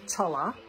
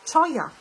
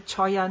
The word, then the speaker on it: Cholla: My reading journal, my Bennu Daily Mate, my Skogsy Cholla. No, that's not the way you pronounce it. Choya, I think, is how you pronounce it.